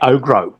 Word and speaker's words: Ogro: I think I mispronounce it because I say Ogro, but it's Orgo.